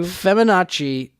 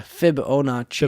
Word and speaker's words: Fibonacci: that up real quick how do you even spell that I'm probably saying it wrong to feminazi it's feminine no it's a but the the feminazi sequence sequence Feb anoche yeah Fibonacci Bonacci yeah the Fibonacci series of numbers in